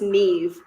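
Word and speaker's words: Niamh: Like there's one name that's spelled like Naimh, and it's pronounced Neve.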